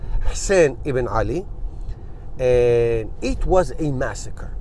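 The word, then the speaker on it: حسين بن علي: Ali, Hussein bin Ali, as you pronounce it in Arabic, in real Arabic Hussein Iban Ali.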